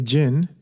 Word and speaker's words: jinn: of sentient beings which are the angels the jinn the ones in the bottle and humans so